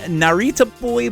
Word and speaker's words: Narita Boy: the song and the game Narita boy it's pronounced Narita boy but it could also be pronounced I guess